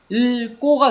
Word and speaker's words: 읽고: 그래서 아까 보았듯이 요 용언, 읽다에서 요 리을 기억이 기억으로 시작하는 말 앞에서 리을로 발음되죠. 그래서 읽고가 됩니다.